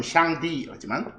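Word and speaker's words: 上帝: 상제 그들 발음은 샹디.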